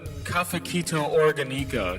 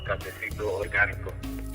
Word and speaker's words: Cafecito Organico: What about the Cafequito Organico? Explain. Okay, so that song I'm purposely mispronouncing it because that's how the song kind of came to be.